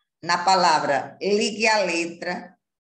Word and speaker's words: ligue: Ligue, porque o U, não, você não ouve a pronúncia do ligue. Você ouve apenas o som do E, ligue. No entanto, se escreve com a letra U.